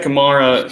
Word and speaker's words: Kamara: and so he's got kamara kamara camara i always pronounce it both ways but he's got